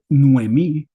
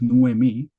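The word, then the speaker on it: Noemí: Se trata de nuemí, lo estoy pronunciando con sinéresis, nuemí, ansia irreal, ¿verdad? Así se deberían pronunciar para mantener el ritmo.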